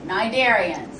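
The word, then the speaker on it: Cnidarian: nid darians all right narian the sea is silent well what's so unique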